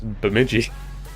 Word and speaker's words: Bemidji: It's just B-E-M-Midgy. It's Bemidji.